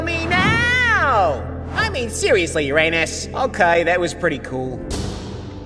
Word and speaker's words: Uranus: moons it's me Uranus and no it's not pronounced Uranus it's pronounced Uranus many planet can't do anything about that we